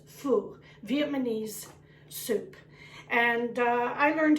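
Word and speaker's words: phở: to do a foo pho you might pronounce it fall but the proper pronunciation is full Vietnamese soup and I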